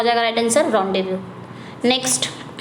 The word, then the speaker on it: rendezvous: तो correct spelling कौन सी है, यही आपकी करेक्ट स्पेलिंग है, रॉन्डेवू। इसको क्या पढ़ा जाएगा, रॉन्डेवू।